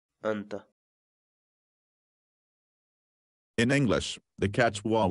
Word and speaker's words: anta: series videos where we teach you how to pronounce certain words in Quechua so our word of the day for today is anta anta anta in English the cats wall word and means